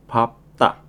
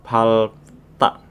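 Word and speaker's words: 밟다: nolta calta pendek chalta dan di sini ada pengecualian untuk kosakata menginjak di mana untuk kosokata menginjak yang dibaca adalah biebnya jadi papta bukan palta tapi pap ta menginjak papta dari awal nol ta, calta, dan papta.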